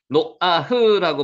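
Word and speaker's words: נֹחַ: 이 아들이 아니하리라 하였으니 노아흐라고 발음하는데 흐 발음은 그 약하게 되기 때문에 노아흐라고 발음을 약하게 하면 안 해도 상관없습니다.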